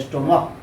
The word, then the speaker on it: stomach: जैसे CH वाला देखिए, अगर हम लिखते हैं STOMACH तो ये उच्चारण इसको पढ़ा जाता है स्टोमक ना, तो स्टोमक होगा तो इसमें क्या लगेगा, एस लगेगा।